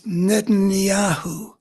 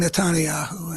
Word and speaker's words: Netanyahu: that's another story but I say the name wrong it's Netanyahu uh and I feel like saying nanahu and I I'm wrong you could hear that